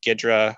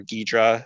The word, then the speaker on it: Ghidra: i'd say most popular are gidra or ghidra as it's properly pronounced as well as ida